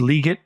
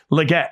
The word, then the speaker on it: Legette: Carolina takes Xavier liate we learn it was leate by day two okay thank you thank you okay no idea I I've I've for years I've read his highlights at South Carolina and it's always been Legette but Le get he informs us it is an introductory